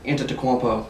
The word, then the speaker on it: Antetokounmpo: You got LeBron James and Giannis Antetokounmpo. That's exactly how you say it.